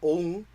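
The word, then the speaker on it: ông: Because if you write that with a circumflex on top of it, a caret, it's pronounced ong, and it is a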